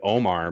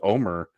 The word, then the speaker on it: Omar: episode her previous episodes i've been pronouncing it omar but they everyone says omer in in this episode so i was like oh i guess that's what you say yeah oh i know